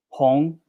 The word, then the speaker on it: hong: he didn't know better hong that is how you say red in chinese h-o-n-g second tone the romanticized version opinion